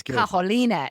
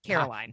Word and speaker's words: Carolina: And it's Carolina. It's not Caroline. Carolina.